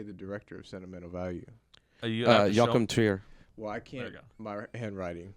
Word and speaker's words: Joachim Trier: Joachim Trier. Well, I can't. My handwriting. Well, Alex got it. Okay. Joachim Trier.